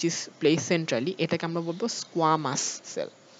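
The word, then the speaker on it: squamous: প্লেসেন্ট্রালি এটাকে আমরা বলবো স্কোয়ামাস সেল মানে উচ্চারণটা খেয়াল রাখবা স্কোয়ামাস এটা মানে এটা যেন তালিবাস না হয়ে যায় স্কোয়ামা সেল স্কোয়ামা সেল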